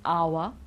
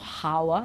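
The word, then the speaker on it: hour: here are some examples when we don't pronounce the h because you know that we do usually okay well you know this one it's our okay it's not hawa it's our then we've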